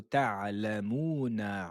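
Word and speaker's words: تعلمون: Kalla law ta'lamuna ilmal yaqin. Waouh, soukoun, ressortez, mettez la bouche vers l'avant. Law, law, kalla law ta'lamuna. Ta'lamuna. Vous connaissez ce mot déjà. Attention à la lettre Ain.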